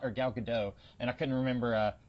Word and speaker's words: Gadot: as Wonder Woman y yes that's how you pronounce her name it's Gadot okay yeah because I was I was going